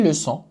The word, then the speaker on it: leçons: And you add les leçons and it's plural. You just add an S. It doesn't even pronounce. It's not even pronounced.